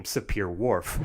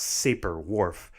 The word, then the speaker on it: Sapir-Whorf: claims from weak to strong got the nickname sapir-whorf which I often hear pronounced saber Worf the Hopi time became its poster child and